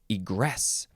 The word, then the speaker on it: egress: form of egress now this one you have to emphasize the second syllable egress because it is an